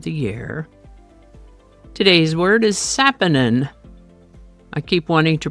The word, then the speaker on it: saponin: Today's word is Saponin. I keep wanting to pronounce it Saponin, but it is Saponin.